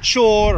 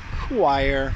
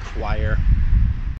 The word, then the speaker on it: choir: I'm impressed when they can pronounce it correctly. So I've heard chor or chorir or holier. I've seen all kinds of weird things, but a children's singing choir is pronounced choir, choir.